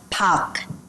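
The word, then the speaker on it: 박: e right Mr E Park is pronounced Pac Pac it's like chicken P right Pac Choy is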